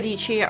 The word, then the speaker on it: Dietschy: Hello everyone, Sarah Dietschy, rhymes with Peachy here, and today we're talking about a subject that you're probably either tired of or excited about: AI.